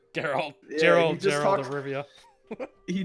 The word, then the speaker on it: Geralt: Geralt or Gerald? How do you say it? Geralt.